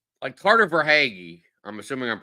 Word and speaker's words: Verhaeghe: The thing is that like Carter Verhaeghe, I'm assuming I'm pronouncing that right.